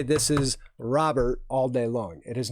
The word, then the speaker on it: Robert: robear it is Luis ro Bert it's ro is unlike row row row your boat so it's Robert and even if you were watching stuff on YouTube it is roburt that is how he pronounces his name so there guys is